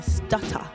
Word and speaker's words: Stutta: So your name, Stutter. Am I saying it right? Yeah, S-T-U-T-T-A. Not E-R, though.